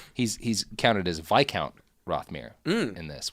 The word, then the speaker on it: viscount: Yeah, he's he's counted as Viccount Rothmir in this, which is a word I know how to pronounce, even though it's spelled viscount, which is dumb.